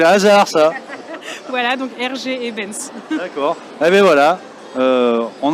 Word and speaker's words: Eybens: Ebens. R.G. Ebens. Oui. Et, pour le prénom, comme votre micro, d'ailleurs. Ah oui, ah bah ça, quel hasard, ça. Voilà, donc R.G. Ebens.